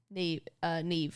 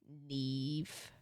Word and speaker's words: Neve: Yeah, Neve is pronounced like that. Isn't it weird? Like Maeve, yes.